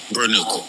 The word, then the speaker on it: Bornu: I don't need you to spell it. I need you to pronounce it. Burnu. Oh, Burnu. Okay.